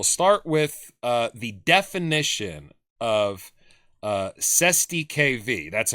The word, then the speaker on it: cestui que vie: So we'll start with the definition of Cestui KV. That's how you pronounce it.